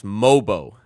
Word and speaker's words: Mogbo: You might get to see some Mobo. You might get to see some Jacoby Walter. By the way, Jonathan Mogbo, you don't pronounce the G. I've been alerted it's Mobo, actually. Jamal Shed, Jonathan Mobo, and Ulrich Shamshay picked